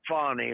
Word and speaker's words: Fani: did you see where Fanny and you're supposed to pronounce it fonny very fancy but fonnie from from